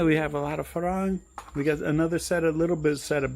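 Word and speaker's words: ฝรั่ง: Farang.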